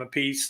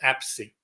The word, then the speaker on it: Appice: the funny thing about the two brothers, is one pronounces his last name a piece and the other one pronounces it Apsey. Hmm. And I think one of them is actually the proper Italian pronunciation, and one of them